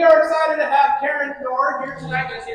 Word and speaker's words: Neorr: So yes, my name is Karen Neorr, and it's pronounced Neorr. Just ignore the E.